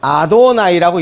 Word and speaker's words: 아도나이: 그래서 그 문자가 나오면 분명히 하나님인데, 하나님 이름인데 문자가 나오면 어떻게 읽었느냐, 그것을 주인이라는 의미로 히브리어로 아도나이라고 읽었습니다.